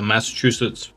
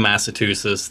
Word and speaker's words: Massachusetts: by people for saying Massachusetts that I had to start remembering that there's a chew in the middle of it and that's the only